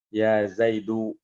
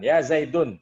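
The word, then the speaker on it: يَا زَيْدُ: Aliyun, ya, Fatimatu, Aisyatu, ketika ada ya di depannya, maka dia dibacanya dhammah. Ya Zaidu, ya Aliyu, ya Fatimatu, ya Aisyatu. Dibacanya dhammah tanpa tanwin. Ya. Dibacanya dhammah tanpa tanwin. Jadi bukan ya Zaidun, salah.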